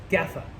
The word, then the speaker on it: Gaffel: that terribly each time I believe the L is not supposed to be pronounced after listening to it many many times online to try to get it right gaffa is what I got off of it and that might be wrong so any German speakers